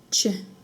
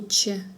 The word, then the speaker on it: Ч: В татарском языке Ч произносится так же, как в русском языке в слове щи. Щи, Ч, щ, щеби, щещек.